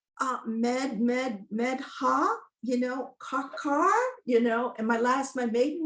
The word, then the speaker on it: Medha: It's Medha, Medha, and it was always a woman. And actually I went to Catholic school for, a big part of that time. And the nuns would like, Medha, Karkar, and my maiden name is Karkar, Kharkar.